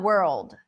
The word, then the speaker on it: world: So, you're having the R, the L. That's why we have the dark L, right? World. Yeah. Yeah. Yeah. Yeah. which is actually easier because if you put the light L, it really messes up the pronunciation because it gets you to it makes it sound like wood.